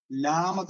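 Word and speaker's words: ܠܡܕ: വര കാപ്പ് കാപ്പ് കാപ്പ് അടുത്തത് ല എന്ന് പറയുന്ന ഉച്ചാരണം വരുന്നതാണ് ഇംഗ്ലീഷിലെ എൽ ആണ് ലാമത് എന്ന ലാമത് ലാമ വളരെ സിമ്പിൾ ആണ്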